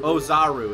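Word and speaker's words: Oozaru: be an Uzu part ozaru no Uzu ozaru is how the movie pronounces it yeah there we go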